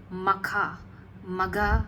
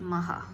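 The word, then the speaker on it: Magha: communities couldn't pronounce Maha couldn't pronounce the h so it became Maka Maga it became magum it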